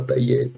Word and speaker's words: Payet: Comme Manu Payette, qui s'appelait Manu Payet, parce qu'au début, il disait « Oh, Payette, Payette ». Et c'est Payette, on prononce Payette à La Réunion.